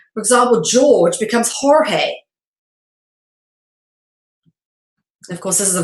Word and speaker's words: Jorge: in the Spanish language letter G is often replaced by the J and pronounced with an H for example George becomes Jorge of course this is